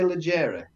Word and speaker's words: leggere: about with the fact that the stress is not on the penultimate syllable; it's on the first syllable.